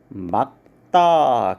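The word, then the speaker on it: 맑다: 겹자음 발음할 때 우리가 많이 헷갈려 하시는데 일단 리을 기역 발음을 보시면 이런 경우에는 말다가 아니라 막다 기역으로 발음을 한다라는 것을 우리가 알 수가 있고요.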